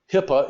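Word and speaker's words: HIPAA: today how knowledgeable they are about that term Hippa is how it's pronounced of course it's an acronym for something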